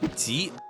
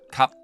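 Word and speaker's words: 急: In Mandarin, there's a word called ji or hasty. In Cantonese, they pronounce it kap.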